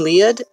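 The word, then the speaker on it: Lied: way is one like that um so elephant lead um it's spelled live but it's german so it's um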